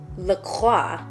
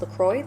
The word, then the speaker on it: LaCroix: is so weird because if we were following French grammar and pronunciation rules, this would be LaCroix, but it's actually, I guess, pronounced LaCroix, like just straight up, which I just think it's weird.